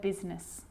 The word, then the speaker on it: business: r rhythm or rhyme good news the i is not usually silent it's usually pronounced except in the word business okay k now i